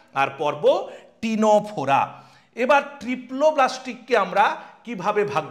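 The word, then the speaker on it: Ctenophora: তাহলে ফাইলাম নিডারিয়া, আরেকটা হলো ফাইলাম বা পর্ব টিনোফোরা। ইংলিশ স্পেলিংটা একটু খেয়াল রাখবে, এগুলো সি দিয়ে শুরু, সি সাইলেন্ট ওয়ার্ড, টিনোফোরা। এই দুটোই কিন্তু সি সাইলেন্ট ওয়ার্ড, একটা নিডারিয়া আর একটা টিনোফোরা।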